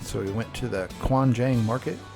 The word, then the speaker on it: Gwangjang: we went to the kuanjang market it's spelled with a G but it sounds like a k Quan Jang Market and it was a